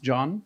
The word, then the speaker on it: Can: Hello, I'm John, and my name is spelled C-A-N, but pronounced John. It's a Turkish name.